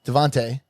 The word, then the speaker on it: DeVonta: winner at uh Alabama Devonta it's Devonte it's spelled Devonta I just said Devante Devante Smith the skinny